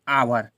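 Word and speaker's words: hour: पढ़ेंगे अवर तो देखो अवर पढ़ने हैं ये हा साइलेंट राहत है ना ठीक है ये एक साइलेंट राहत हा को हमें उच्चारण में नहीं बोलना है अगर हा को बोलोगे तो ये गलत हो जाएगा तो इसे हम क्या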